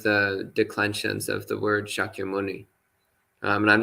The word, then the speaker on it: Shakyamuni: in pali is pronounced shakyamuni in sanskrit but otherwise it's the same word it's just pronounced slightly differently in sanskrit so yes it's the